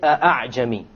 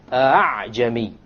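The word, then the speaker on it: ءأعجمي: pronounce it as follows hi Jamie hi Jamie you don't pronounce it a full Hamza and you don't pronounce it as an alley full of it is in between way no joke or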